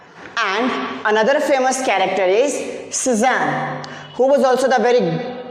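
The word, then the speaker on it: Cézanne: Suzanne, you can say like that, Suzanne.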